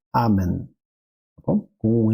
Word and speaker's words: amen: E, por último, cuidado ao não dizer amém, né? Lembrar que a pronúncia do latim a gente vai colocar a tônica na penúltima sílaba, então vai ser amen, tá bom?